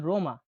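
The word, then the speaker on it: Roma: পরবর্তী বর্ণটি হল আর উচ্চারণ হয়ে থাকে রোলিং। রোলিং মানে কি? মোটা গোল হবে। র উচ্চারণ দেখুন। উদাহরণ দেখুন। রোমা রোমা।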